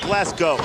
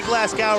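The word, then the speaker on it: Glasgow: school I didn't know I didn't know where glassow England was either Norman Smiley reaching for the tag not enough momentum behind him actually should pronounce it glass go if you say glass gout around these people you might get you might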